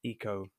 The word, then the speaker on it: Ico: I think it's pronounced Eco, Oh, right.